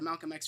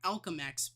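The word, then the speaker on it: Alchemax: Well, when he does get to the Malcolm X facility, or the Alchem X, I've been saying it wrong, Alchem X facility, we end up getting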